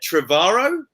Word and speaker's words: Trevorrow: We've got Jen Trevorrow. Hi, guys. Is that how I pronounce it, Jen? Yeah. Beautiful. Yep.